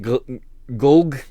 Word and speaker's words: Golg: And was that Golg Cola, not Glug.